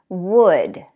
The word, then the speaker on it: would: Would. Should. Could. All of those words have the same vowel and the L is silent.